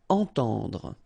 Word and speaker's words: entendre: Entendre. Okay, so nasal here, en, and then the same one, temps. Entendre.